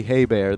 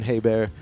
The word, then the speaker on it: Hebert: Back in the Day spelled the same way as Herbert and his name was Bobby Hebert that's how he pronounced it so I'm gonna pronounce I'm gonna call Justin hey bear Justin hey bear until